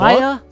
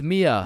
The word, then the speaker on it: Mia: Maya? Is Maya present? It's Mia.